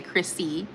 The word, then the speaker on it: Chrissy: You said Christie. Yes, Chris. Yeah, it's okay. Chrissy with a uh ss y.